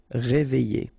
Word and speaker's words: réveillé: Okay, I-double-L-Y. Réveillé.